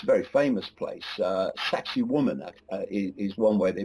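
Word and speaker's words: Sacsayhuamán: Sacsayhuaman is one way they pronounce it.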